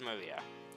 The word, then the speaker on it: Maria: her name is written of course it is pronounced maria the third character looks like a cross which